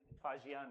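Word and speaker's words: Faxian: एंड होइनसांग फाहियान फ़हयान फाहियान की spelling क्या होगी एफ ए एक्स आई इ एन फाजियान है वो ठीक है एफ ए एक्स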